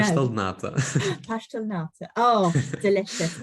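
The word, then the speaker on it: pastel de nata: Is it pasta de nata? No, Pastel nata.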